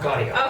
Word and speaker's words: Gaudio: And you recently finished playing Bob Gaudio, is that how it pronounce it? Gaudio? Yep, Gaudio.